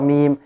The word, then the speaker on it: م: noon and meme and actually the meme is done from the leaves but it takes its characteristic which is the nasalization from the nose actually if you would